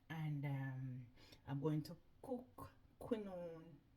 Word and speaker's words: quinoa: So let me get crackalacking with seasoning up these chicken gizzard, and I'm going to cook quinoa rice. That's how it's pronounced, quinoa rice, not black wild black rice.